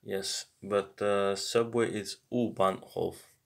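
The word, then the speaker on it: U-Bahn: but the subway is uban uban I say uban off but uban St that's the the right way to say it so how do you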